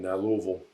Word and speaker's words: Louisville: distilleries in in in Louisville is it Louisville mhm okay notice I said it right it's not Louisville no it's louville Louisville you got to swallow it Lille that's another thing